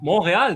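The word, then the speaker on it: Montréal: from the poutine province okay moral we can call it that as fellow Canadian I don't know if everybody else should say that I don't moral that's just a French pronunciation right yeah moral oh I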